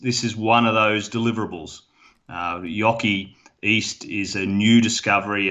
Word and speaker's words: Joki: And let me correct my pronunciation here. It's Joki East. Is that correct? Because close the first time, unfortunately, Gerardo. It was Yoki. Yoki, I had it.